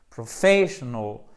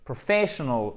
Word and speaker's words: professional: l'accès au tonic d'accord professional il faut pas hésiter puisque c'est comme ça que les anglo saxons prononce il n'y a pas de mystère si vous faites bien l'accent tonique derrière ça va aller beaucoup mieux professional et on leur fait